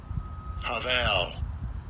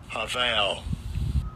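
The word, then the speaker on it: הָבַל: And I'll give you a pronunciation of the root of the word. Strongs H1891. Haval. Haval.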